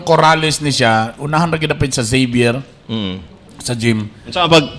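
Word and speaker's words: Xavier: mm tapos along corales ni siya unahanap sa zavier mm sa gym sa pag kwan pronounce Nuda zavier na Zavier paraosyal letter Z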